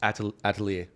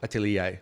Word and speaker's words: Atelier: And then one that we haven't spoken about is Atelier. All right. Or Atelier, right? Yeah. Depending on where you want to pronounce it from.